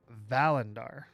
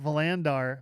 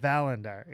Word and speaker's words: Valandar: Emphasis on the first syllable. It's Valandar. I got it? Yeah, not Valandar, but Valandar.